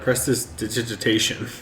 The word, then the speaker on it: prestidigitation: No, I Because I have prestidigitation. I just put it in my sack. I can never just pronounce that. Prestidigitation. Prestidigitation. Exactly. Prestidigation.